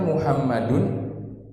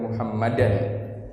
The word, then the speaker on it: Muhammadun: Sekarang kita membacanya Muhammadun, Muhammadan atau Muhammadin? Muhammadun. Muhammadun. Kenapa kita kenapa kita membacanya dengan dhammah di akhir? Karena dia adalah rofa, dan di antara tanda rofa adalah dengan dhammah. Maka kita harus membacanya dengan Muhammadun. Tidak boleh baca dengan Muhammadan, karena tanda rofa adalah dhammah di sini.